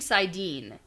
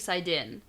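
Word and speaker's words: saidin: out that this particular you keep saying side Dean is that how I pronounced I've been sink side in yeah glossary side Dean you can say side in it doesn't matter it's interchangeable this one's okay yeah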